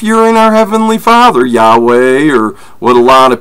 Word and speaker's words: Yahweh: or even if you're in our Heavenly Father Yahweh or what a lot of people like to say is Jehovah Yahoo Yahoo on and all these other silly things his name is Yahweh yhw H that's how it's pronounced and this is how you know if